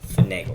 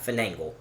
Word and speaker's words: finagle: The word is finagle. Let's see. It's not finagle. It's just finagle. Is it a real word? Number one. Kind of. Finagle. Finagle. Finagle. It rhymes with bagel.